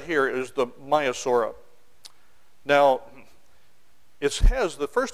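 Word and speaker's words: Maiasaura: right here is the myosa now it has the first two letters of his name is ma a ma and myosa actually means good mother lizard I know it's pronounced myasa but it's got me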